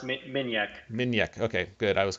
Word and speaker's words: Minjek: Pronounced Minjek.